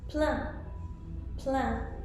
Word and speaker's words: plein: It could be written IN or AIN or EIN. For example, pain, which means bread. There's also vin. Vin is wine. Vin could also be 20, depending on how it's spelled. Now with the EIN, you have words like plein, which means full.